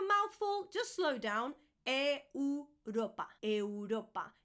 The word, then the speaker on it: Europa: We have Europa. Europa. Europa. Europe. Europa. Once again, make sure that you're pronouncing all the vowels. If it's a bit of a mouthful, just slow down. Europa.